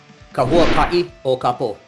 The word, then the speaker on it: Huaka'i O Ka Po: Matthew, why don't you help me out here with the pronunciation of the title a little bit? Yes, sir, Mr. Crawford. Huaka'i O Ka Po, The Okay.